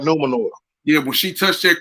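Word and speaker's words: Númenor: Luminor. When they touch Numenor. You said it right, Numenor.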